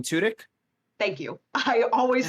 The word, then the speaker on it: Tudyk: this man's last name i always say tud yuk and that's not right alan tudyk thank you i always